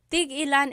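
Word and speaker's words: tig-ilan: So tig ilan, when there's a hyphen in it, you have to have that glottal stop. Tig ilan. That means how many of each.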